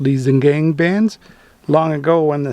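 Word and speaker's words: Liesegang: The dark reddish brown swirls and rings on the rocks are called Liesengang bands, pronounced Liesengang bands.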